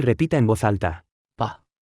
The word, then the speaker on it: 吧: 爸 Se pronuncia con el tono neutro.